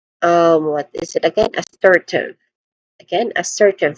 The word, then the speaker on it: assertive: There's three distinct sounds here when it comes to pronunciation. It starts with a. It starts with awa sound. A weak and stressed a vowel sound. Next is sir. I mean sir again sir. This is a stressed syllable and then followed by t which is the which is the last syllable of the word.